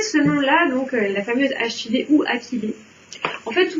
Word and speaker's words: achillée: On a le droit de prononcer achillée. Mais en fait, techniquement, ça devrait se prononcer achillée.